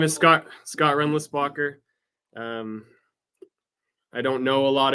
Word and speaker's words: Rindlisbacher: My name is German Swiss, so I'm sure Christopher Lutz could tell you how to say it better than I can, but here in the States, it's Renlisbacher.